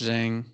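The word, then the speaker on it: Dieng: for gorgi Jen D I think it's pronounced Jang it's d n g so however you all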